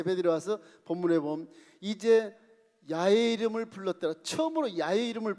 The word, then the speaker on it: 야훼: 우리 순복음은 이제 원로 목사님의 신학 속에서 원문을 이렇게 해석해 보면 여호와라는 발음보다 야훼라는 발음이 훨씬 가깝다.